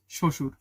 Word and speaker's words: শ্বশুর: দুইটা স্বশুর শশুর শশুর লেখতে তো দুইটা স এর মত উচ্চারিত হইল না। আচ্ছা শশুর লেখাটা আমি ভুল লিখছি বানানটা। যাই হোক উচ্চারণটা হবে শ্বশুর। অদ্য শব্দের উচ্চারণ কি?